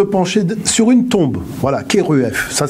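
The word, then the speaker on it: Kheruef: Voilà, Keruef. Ça s'écrit K-H-E-R-U-E-F.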